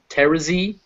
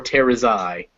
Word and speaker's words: Terezi: book they were basically would only pronounce it two ways, either Terezi or Terazai.